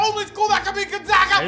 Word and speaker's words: Gonzaga: It's Gonzaga, not Gonzaga. How are people still mispronouncing it?